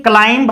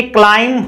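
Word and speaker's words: climb: इसी प्रकार से देखिए क्लाइंब हम बोलते हैं, लेकिन ये क्लाइंब होता है, क्लाइंब, क्लाइंब, KLIAIM, क्लाइंब, क्लाइंब।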